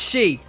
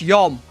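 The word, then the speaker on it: 四: 4 here is pronounced she. But the green bird app yells at me and tells me it's pronounced yom.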